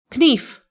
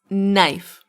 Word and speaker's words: knife: Is it knife? Knief. No, it's knife.